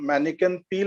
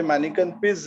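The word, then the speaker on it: Manneken Pis: किंवा ब्रसल्समध्ये जेव्हा आपण जातो तेव्हा आपण मॅनिकन पी ला व्हिजिट करतो. आता अमेरिकन्स मुळे ते मॅनिकन पीस झालेलं आहे.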